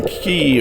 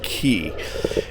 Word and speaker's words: Key: But as you can see, we got over to Norman Key over here. I keep saying K because that's how it's spelled, but I think it's pronounced Key.